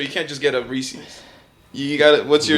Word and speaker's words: Reese's: No, I'm pretty sure that the Reese's minis that they threw in there.